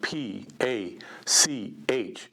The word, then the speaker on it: Pachuco: The name Pachuco is spelled P-A-C-H-U-C-O, Pachuco, the Educated Pachuco.